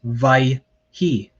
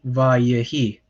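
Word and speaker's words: וַיְהִי: If there was not a dagesh here, or there wasn't an implied dagesh here, you would pronounce this vai-hi, and some people do pronounce it that way, but it should be vayehi. Okay.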